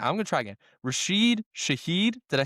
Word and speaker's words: Rashid Shaheed: I can never pronounce this guy's name. I'm gonna try again. Rashid Shaheed.